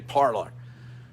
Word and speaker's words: Parler: meant to be pronounced some kind of the french word for speech speaking or whatever parlay uh but people